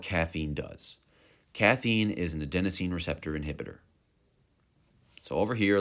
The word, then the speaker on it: adenosine: Adenosine is green because green rhymes with adenosine.